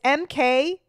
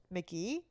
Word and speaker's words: MK.GE: It's MK.GE. I literally thought it was MKG. Like, I thought that's how he said it, but apparently it's pronounced Mickey.